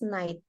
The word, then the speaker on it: night: Both sama night-nya masih ke apa? Kentara tuh suara GH-nya. Coba diulang. Sonny bought a beautiful dress when she went to the mall last night.